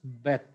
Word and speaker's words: Beth: If I put Dagesh, then its pronunciation is clear B. Beth. B. B in boy. Beth. So its pronunciation is Beth.